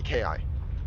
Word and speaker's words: KI: Yes, it's pronounced KI, not key, KI.